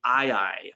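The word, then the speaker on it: aye-aye: always been the case it's the ii and that's spelled a-y-e-y-e um so if you remember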